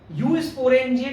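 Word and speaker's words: eusporangia: तो यूजुअली जो है इस तरह का देखने को मिलता है डेवलपमेंट, जिसे हम यू स्पोरेंजिया डेवलपमेंट कहते हैं। ई साइलेंट है, यू स्पोरेंजिया डेवलपमेंट कहलाता है।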